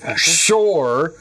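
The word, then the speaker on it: Pschorr: Um, so hacker, but then shore. P S C H O R R. Sure. You don't pronounce the P, right?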